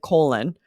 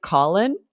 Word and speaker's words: Colin: asked his name and he said colon and I was like Colin and he said no colon but it's spelled like Colin I was so shocked